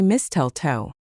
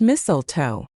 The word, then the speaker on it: mistletoe: It doesn't end in stle, but it has that same cluster in the middle. We don't say misteltoe. It's mistletoe. It's that plant people hang up at Christmas to get a free kiss. Some people say it with a sharp s like missile and some use a z sound like mizzle.